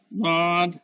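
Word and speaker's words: ض: তারপর এটা দদ, দদের উচ্চারণটা কেমন, দাঁতের গোড়াটা গিয়া জিহ্বার গোড়াটা, জিহ্বার গোড়ার কিনারাটা গিয়ে আমার দাঁতের যে কোনো সাইডের দাঁতের সাথে লাগবে।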